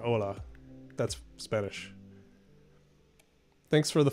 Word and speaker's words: hola: um greetings from so you just say hola is how you say okay so it's very similar just um drop the h there that's cool okay all